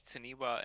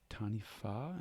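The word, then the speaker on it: Taniwha: Ketzer saying that what I pronounce as Taniwa and Tawiki are pronounced with an F sound, where the wa is. So it's Tanifa and Tanifa and Tofiki.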